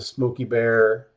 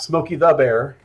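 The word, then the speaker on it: Smokey Bear: the cartoons uh the Smoky bear cartoons are all different and that is how you say that by the way it's not Smokey the Bear no point will you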